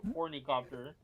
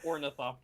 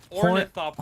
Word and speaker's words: ornithopter: Yeah, you say hornycopter, even though it's ornithopter. Bro, it's better. True. Wait. Okay, so how do you say it? Ornithopter.